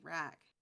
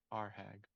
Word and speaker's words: Arhag: I keep wanting to say Rack. That's not how it's spelled. There's an H in there. Arhag.